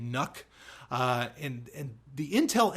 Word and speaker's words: NUC: I've often called it nuke just to be funny but it's but most people are pronouncing it nuck uh and and the